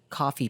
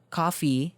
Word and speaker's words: Ko-fi: actually set up a coffee page if you didn't know coffee is a platform uh that's spelled ko-fi that allows anyone to